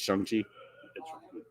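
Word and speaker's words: Shang-Chi: hear them tell me it's shangchi okay they make up it's like it's strong like shawn okay but no that's what i'm saying is like i've been pronouncing it wrong so obviously no but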